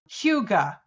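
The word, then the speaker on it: hygge: at that word and then know that it's pronounced Huga it just tells you how wrong we've been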